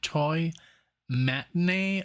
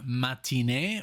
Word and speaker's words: Toy Matinee: It looks like Toy Matinee or Matinee, which is more like a French version of saying the name.